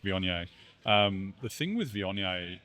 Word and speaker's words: Viognier: We're gonna we're gonna drink some Vogna. Now, um just to be clear, it is pronounced Vion.